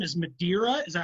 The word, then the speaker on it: Madeira: So, your last name is Madeira. Is that how you pronounce it? Yes, Madeira. Yep. Okay, cool. It's the same as the wine they toasted the signing of the Declaration of Independence to.